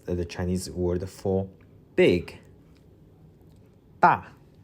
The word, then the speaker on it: 大: 大大大.